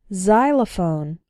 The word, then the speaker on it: xylophone: ex-girlfriend ex-husband or ex-wife when X starts a word then it's pronounced like Z there are very few of these words in English but a couple of them are xenophobia xylophone and Xerox xenophobia means fear of